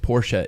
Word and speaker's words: Porsche: porches and I had a shirt as a kid that said Porsche is a two- syllable word mhm yeah we don't